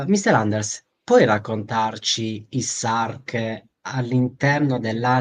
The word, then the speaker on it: Sarke: perché c'è il nostro carissimo Anders come io mi scordo sempre la pronuncia di questo gruppo, E Sark. Ok, Sark, quindi sì.